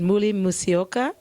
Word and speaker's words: Muli Musyoka: Ladies and gentlemen, this is, let me say it, Muli Musyoka.